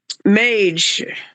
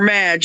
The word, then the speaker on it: Mage: I was really impressed with number 4, Mage or Madge. I heard the announcer pronounce the horse in both pronunciations. I'm going to go with Mage, because Madge is kind of like a nickname for a woman. So I'm going to go with pronouncing it Mage.